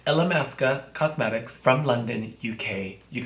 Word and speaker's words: Illamasqua: Am I saying it right? ILLAMASQUA? ILLAMASQUE. No, it's ILLAMASQUA Cosmetics from London, UK.